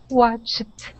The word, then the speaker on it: watched: Watched. Good. Watched. Excellent. Watched. This one very is harder. Good. It is. That CH to a T sound is definitely harder.